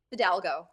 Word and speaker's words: Fidalgo: how do you say your last name Fidalgo Fidalgo and she's going to share a little bit